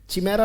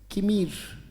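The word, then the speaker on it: chimera: एक वर्ड आता है सी एच आई एम ई आर ए पढ़ा क्या जाएगा पढ़ के देखो चिमेरा नहीं बेटा इट इज कमीर क्या उच्चारण है किर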